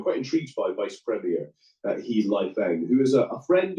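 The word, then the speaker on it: 何: Yeah, I mean, He Lifeng, to give him his, it was a confusing surname in Chinese, but it's pronounced He.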